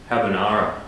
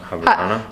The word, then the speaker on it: Habarana: place called Habarana today that's how you say it right habanara hab it's Habar habarana habarana i've had the hardest